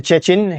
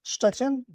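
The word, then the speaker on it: Szczecin: Welcome to Chuchchin.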